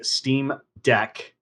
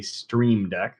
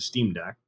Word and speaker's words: Steam Deck: So if you're like me and you ordered a Steam Deck, not a Stream Deck, but a Steam Deck, Oh, you said it right.